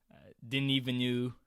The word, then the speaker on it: Denis Villeneuve: Denis Villeneuve, as his name is pronounced.